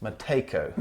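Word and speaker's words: Matejko: This is called, the name here, you pronounce that Mateko. I wasn't even going to try that. So the J is silent.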